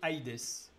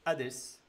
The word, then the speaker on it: Aïdès: On dit aujourd'hui l'Hadès, mais ça se disait Aïdès. Et on a gardé le iota parce que normalement, on ne doit pas dire Hadès. On doit dire un léger i après le a.